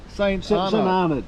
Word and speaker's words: St. Arnaud: St. Arnaud.